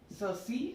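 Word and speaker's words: ceci: So Sala, Cerci, and Sir.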